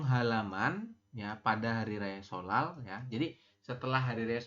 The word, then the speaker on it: 설날: Yang pertama, Mas Rian bilang katanya, Jihun sih, ya Mas Jihun, kemudian solale, goyangnya 잘 다녀왔어요 ya. Solal ini dibacanya bukan solnal tapi solal ya. Jadi nien di atas berubah menjadi real ya.